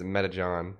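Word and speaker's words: Metecan: By the way, the pronunciation of my name is Metajon. It is funny. Wait, but it's a C. Metacan.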